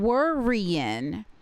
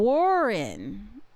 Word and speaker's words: Worryin': sounds in the syllable, but he's not saying worrying. He's saying waring. So, they should not have even put that Y in there.